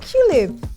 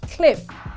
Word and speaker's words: Qlib: Oh, Qlib. No. It's pronounced clip and not Qlib.